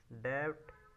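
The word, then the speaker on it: debt: फेटल फेटल बोल सकते डेट डीई बीटी डेट पढ़ते इसके लिए बी साइलेंट रहता है तो डेट पढ़ते है ठीक है लायबिलिटी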